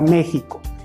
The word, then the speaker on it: México: a dividir esa palabra se divide en tres sílabas la primera sílaba acentuada entonces vamos a decir al niño que repita la palabra mexico siempre dándole énfasis al acento me pico méxico